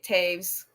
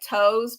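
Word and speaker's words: Toews: because it's spelled it looks like toes but it's like Taves like there's it's not how it looks but um she's written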